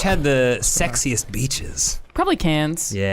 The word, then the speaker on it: Cairns: Wait, she means Cairns. Yeah. Not Cannes. I mean I think how she pronounces it is probably how it's pronounced. I disagree. Oh, okay. It's got an R in it, Australians.